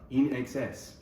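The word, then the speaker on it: INXS: because in the label, in order for the folks in Argentina to pronounce it correctly, it said "Se pronuncia in exces" on the label, so they get it right.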